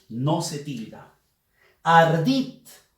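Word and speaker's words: ardid: Ardit. Ardit. Fuerza de voz en la sílaba dit.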